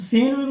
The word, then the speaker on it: shame: आ रहा, देखिए आप, तो सेम सेम बोला जाता है, ई का कोई उच्चारण में नहीं यहाँ पर है।